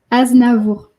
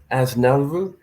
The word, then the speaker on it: Aznavour: Sorry, can you pronounce his name in French again? Aznavour. Aznavour.